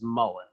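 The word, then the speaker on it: mullein: learned in the last like couple years is mullen so mullen is a it's another ditch plant it doesn't grow can you spell that no m-u-l-l-e-i-n okay okay mullen um it's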